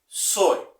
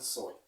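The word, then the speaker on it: Zoë: Que la vida de Dios se escribe Zoe. Z-O-E. De hecho, con 2 puntitos sobre la O.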